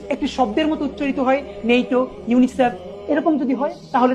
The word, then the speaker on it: NATO: আর এখান থেকে মনে রাখবো, যেমন পড়ছি নেইটো, আমি কিন্তু পড়ছি না NATO, এরকম কিন্তু পড়ছি না, আমি একটি শব্দের মতো পড়ছি নেইটো।